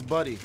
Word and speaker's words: Buddy: Do you understand me? I understand that. That's my whole thing. It's Buddy, okay? You are saying my name wrong.